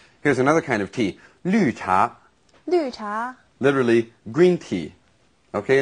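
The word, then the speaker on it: 绿茶: another kind of tea lucha lucha literally green tea okay and of course here we have again that's pronunciation that we don't really have in English you do yeah lu cha green tea now the many different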